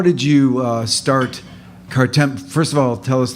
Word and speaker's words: Kartemquin: And we would joke about having a film company someday called Kartemquin, putting the three names together. We thought it sounded like Potemkin, the famous Russian film.